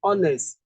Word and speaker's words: honest: You are honest.